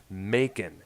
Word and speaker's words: Macon: reproduce pronouncing it because it sounds looks so much similar to the word bacon so I think it it's Macon in Georgia at McCombs McCone okay